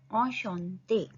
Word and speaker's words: Enchanté: En ch का sound श en te. Enchanté.